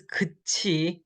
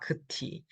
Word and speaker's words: 끝이: Again, pronunciation note, you guys are all in Korean 4, so this is 끝이, not 끝이.